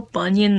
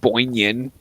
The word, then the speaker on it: Bunyan: It's like how you refuse to spell Bunyan the correct way. I'm just gonna fucking say you're supposed to spell it how it is. Bun-yan. Like Paul Bunyan. Yeah, no, not fucking Boinyan.